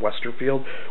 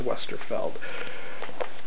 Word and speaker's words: Westerfeld: and i have to i make a conscious thought of pronouncing the author's last name correctly because i noticed everybody calls him westerfield when there is no i in his last name it's westerfeld um so another thing